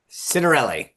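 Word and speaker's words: Ciattarelli: And uh Jack, how do you pronounce Jack's name? Citerelli. Citerelli.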